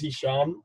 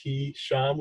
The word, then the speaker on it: Hisham: My name is Hisham. It's pronounced He-Sham with 2 syllables.